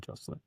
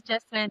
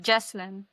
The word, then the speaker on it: Jesslyn: Thank you so much for your time, Jocelyn. Thank you, sir, for... I'm sorry, mispronouncing your name. It's Jesslyn. right? It's Jesslyn.